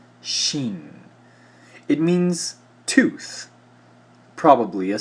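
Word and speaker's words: שין: judgment Sheen transliterated as Shh value 300 is pronounced Sheen it means tooth probably a Serpent's Fang and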